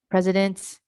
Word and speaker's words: president: say ant dent needed president and the last two here is to emphasize the proper syllable stress pres president right so